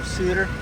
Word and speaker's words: Suter: Is that Suter or Sutter? I don't know how it's pronounced. I don't either. I know it's double T. Let's see. From not in this country, it's pronounced A-E-I-O-U. So Suter. Yeah, Suter sounds about right.